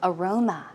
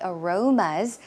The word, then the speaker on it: aroma: cannot forget about the Aromas of what he had the night before right so Aroma as you can see the stress goes on the second syllable aroma aroma some synonyms